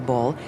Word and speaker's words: boll: known as a cotton ball ball by the way is spelled Bo ll a well cultivated acre